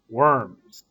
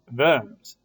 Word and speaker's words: Worms: about it in class lunchtime a diet of worms well not really it's not pronounced diet it's D it and D it is a meeting a parliament a conference as it were and it's not worms it's firms firms is a city in eastern Germany where